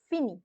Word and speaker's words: finis: because you put the IS ending, and the pronunciation je finis.